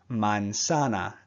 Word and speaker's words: manzana: The next word, manzana. Every A makes the same sound.